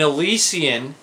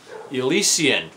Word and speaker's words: Elysian: us we're doing an elysian product that's right Elysion is how it's supposed to be pronounced not Elysian I like a legion